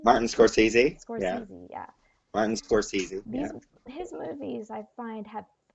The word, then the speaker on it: Scorsese: You know, like I just feel like for these Martin Scors I can never pronounce his last name. Scorsese. Martin Scorsese? Yeah. Scorsese, yeah.